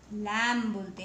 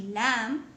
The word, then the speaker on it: lamb: लैम बोलते हैं. LAMB. लैम में B साइलेंट होता है, इसलिए हम इसको लैम पढ़ते हैं.